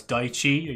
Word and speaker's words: Daichi: But I guess as Golden says there, everybody says Daddy as well. It's Daichi. You're all saying it wrong.